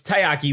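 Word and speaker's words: たい焼き: Yeah, because I keep saying takoyaki, which is the squid balls. Yeah. So it's taiyaki, which is a Japanese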